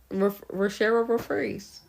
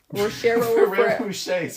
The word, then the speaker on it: Ferrero Rocher: Rochero Refreeze. What? Is that even like what was that? I don't know how to say them. Rocheros? Ferrero Rochers or something.